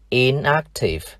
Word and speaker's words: inactive: Khi thêm tiền tố in, thì cách phát âm và trọng âm của tính từ gốc không thay đổi. Và từ này chúng ta được inactive. Inactive.